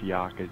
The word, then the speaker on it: Yakja: Yeah, it's just Yakja. Yakja. It's kind of interesting story, I guess. Yeah, it's that's how I decide to pronounce it.